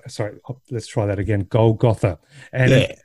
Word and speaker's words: Golgotha: i pronounce this right golgotha uh gold well i say gold gotha but i i i'm pretty sure both are correct well my first inkling